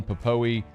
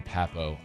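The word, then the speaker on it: Pappoe: 2022 joining linebacker owen popoe uh and uh defensive lineman colby wooten fellow edge rusher uh derek hall i think it's actually owen pappo i i've mispronounced his name for a long time my apologies six four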